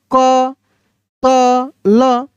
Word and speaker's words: कत्ल: कतल अगर हम इसको पढ़ते तो इसको हम लिखते ऐसे क त ल, लेकिन मेरे भाई हम इसको पढ़ रहे कत्ल। कत्ल क्यों? क्योंकि त आधा है तो त को आधा ही पढ़ रहे हैं, यानी उसका उच्चारण तेजी में कर रहे हैं।